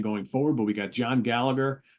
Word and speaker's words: Gallagher: in the band going forward but we got John Gallagher John gallager let's say it correctly on Bas and vocals